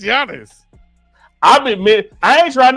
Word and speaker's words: Giannis: for the D after the way you just pronouncing his name he wouldn't even know you talking to him well you said Giannis it's Giannis I been I ain't trying to pick him